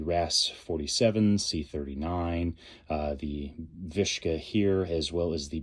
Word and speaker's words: VSKA: Century Arms, uh, VSKA, or some would pronounce it Visa. Others have pronounced it Vishka. I think Viska is a little bit more fun. Sounds kind of Russian.